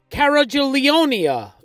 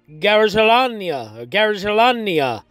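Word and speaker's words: Gargalianoi: And apparently, because I looked it up, the Greek town is Garigelania is how you pronounce it.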